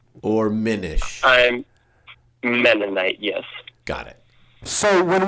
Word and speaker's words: Mennonite: Amish right yes that is correct is that pronounced amonite or menish I'm menite yes got it so when we joke about